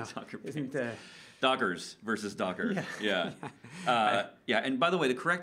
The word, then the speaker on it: Docker: Dockers versus Docker. Yeah. Yeah. And by the way, the correct way to say it is Docker, not Dockers.